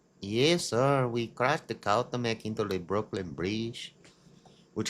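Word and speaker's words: Cuauhtémoc: Cautamec. Oh, it's the Cautamec. C-U-A-U. That's too many vowels in a row. C-U-A-U-H-T-E with a little thingy thing. M-O-C. Cautamec. Oh, yes, sir. We crashed the Cautamec into the Brooklyn Bridge, which remains docked at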